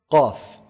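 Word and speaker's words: ق: Qaf. Qaf is pronounced from the deepest part of the tongue. So the closest to the throat, the farthest from the mouth.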